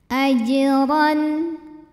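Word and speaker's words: أجرًا: Ajran. Huruf ra dibunyikan secara tafkhim karena baris di atasnya adalah tanwin fathah, jadi barisnya di atas ya. Lalu bacanya adalah ditebalkan, pangkal lidah dinaikkan.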